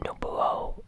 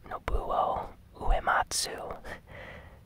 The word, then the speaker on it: Nobuo Uematsu: game Nobuo Uematsu and I completely said his name wrong it's a Japanese name but no blow Nobuo Uematsu try to say that three times past um